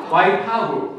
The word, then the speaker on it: Waipahu: Waipahu.